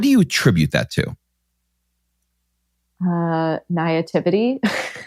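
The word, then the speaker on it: naïveté: Naivety. How do you say that word? Yeah. Is that correct? Let's go French. You want to go French? Yeah. We'll do naivete.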